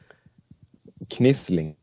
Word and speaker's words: Knislinge: Knisling.